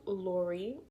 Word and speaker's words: Lorie: So for the record, my name is Lorie. If you didn't like if you didn't get the pronunciation from just the spelling, that's the pronunciation.